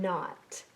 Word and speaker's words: knot: Another n special sound that also has a silent letter is n in knot. Which letter is silent? It's the K.